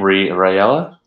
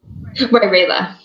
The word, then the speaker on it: Rayla: I look to how do you say your name? Rayella? Rayla. Ray.